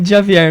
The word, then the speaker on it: Djavier: É de Javier mesmo.